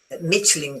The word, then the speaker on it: Michelin: Michelin guide is not Michain that this is Italian.